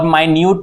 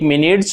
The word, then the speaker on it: minute: यानी कि इसका दो उच्चारण होगा, मतलब एक मिनट्स और एक माइन्यूट।